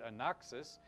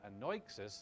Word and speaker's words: anoixis: Greek word for mouth, The first word, anoxis, is anoixis, actually, is how you pronounce that.